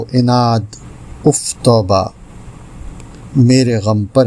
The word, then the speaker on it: عناد: میں حاضر ہے ایک اور لفظ لے کر۔ تلفظ ایک لفظ روزانہ میں، اور آج کا لفظ ہے عناد۔ درست ہے، عناد غلط ہے۔ اس کے معنی ہیں دشمنی، عداوت،